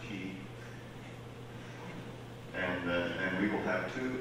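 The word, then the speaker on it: Quay: That's pronounced Key.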